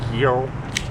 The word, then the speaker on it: gyro: I don't really know how to pronounce it, but I think it's a Say, gyro? like, cross out your G with your tongue though, so you're saying hero.